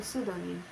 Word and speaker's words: pseudonym: PS, pronunciation S, example pseudonym, which means false name.